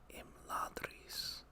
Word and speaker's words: Imladris: Imladris, with of course a trilled R.